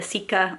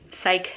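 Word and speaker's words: Cike: I know in the first 2 novels you had the Sika or Psych, depending on which audiobook pronunciation you're gonna go with. I believe it's Psych technically.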